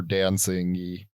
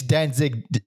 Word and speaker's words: Danzig: i pronounced it dancing how are you supposed to say his name it's it's danzig alex everyone everyone including everyone we know has said why does he say dancing there's only one n it's d-a-n-z-i-g dan zig then zig yeah not like dancing